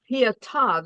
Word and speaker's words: Pietà: It was treble pietà. They got the accent on the last name.